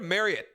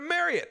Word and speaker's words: Marriott: Just get a Marriott, and I'm gonna say Marriott because that's Marriott. how they want it. Did you just say Marriott? That's actually how that's how they intend it to be pronounced.